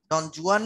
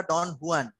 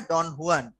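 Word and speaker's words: Don Juan: ডন হুয়ান হয়ে গেছেন, ডন জুয়ান বলা যাবে না, এটা ডন হুয়ান, উচ্চারণটা হচ্ছে গিয়ে ডন হুয়ান।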